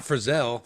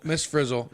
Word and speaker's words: Miss Frizzle: she Hispanic or no is that not Frizzell Frizzell would be like Italian Italian I said it wrong no so Miss Frizzle Susan protective custody but